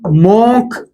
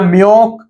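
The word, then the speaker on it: Münch: इनके नाम को हम मोक के प्रोनाउंसिएशन में पढ़ते हैं या म्योक की प्रोनाउंसिएशन पर पढ़ते हैं।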